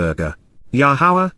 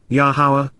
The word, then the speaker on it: Yahowah: to hear so after finishing his cheese B yahwah yahawah the proper pronunciation of yahwah our eloa God has directed